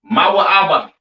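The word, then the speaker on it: מואב: All right, Moab, pronounced Mawa'aba.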